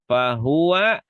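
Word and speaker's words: فهو: Fahua ini fahua, tidak, tidak, semuanya pendek. Semuanya pendek. Ada pertemuan antara damma dan wau di sini. Ini tidak, tapi tidak ada sukun. Oh, benar. Wau bukanlah sukun. Wau memiliki seorang fathah. Jadi, tidak lama.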